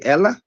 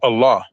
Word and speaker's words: Allah: Dude, do you say when you say Allah, do you say Ella? I say Allah. Right. So if it's spelled with the same letter as the other